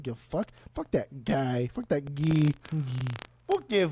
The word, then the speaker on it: Guy: It says Guy Ledouche, but it's pronounced Guy Ledouche.